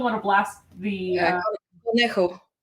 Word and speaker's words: Conejo: I just don't want to blast the Yeah, Conejo. Gonejo.